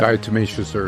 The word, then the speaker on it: Diatomaceous earth: Diatomaceous earth.